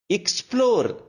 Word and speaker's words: explore: Explore, not explore. நீங்க பாத்தீங்கன்னா 99% of the words with starts with the EX pronunciation either ik or ig.